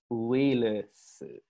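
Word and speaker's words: ウイルス: So don't pronounce it like virus. That's more about virus. Uirusu.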